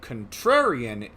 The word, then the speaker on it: contrarian: cat brought up the contrarian the the emphasis is on the second syllable uh so when it